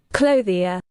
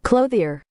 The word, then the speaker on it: Clothia: got to hear this clothia yeah that's what I do clothia clothia clothia that's the correct way this is the wrong way clo here clo here I felt it I was wrong he's saying it correctly